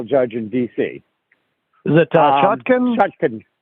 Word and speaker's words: Chutkan: Is it Chutkan? Chutkan. Yeah, Chutkan. That's it is. It's hard to keep them all straight. Yeah, has asked Chutkan that this whole case should be thrown out